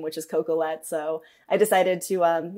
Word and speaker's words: Coquillette: and Google ability no one can spell or pronounce my actual last name which is cocoette so I decided to um yeah shorten my